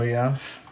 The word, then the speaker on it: Proyas: And as we roll into chapter 11, Proyas, the name that how you pronounce Yeah, the Nurse prince's name? Proyas.